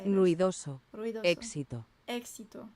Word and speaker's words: éxito: Éxito. So you do pronounce the X. Success. Cool. Good word. What's to succeed? Para tener éxito.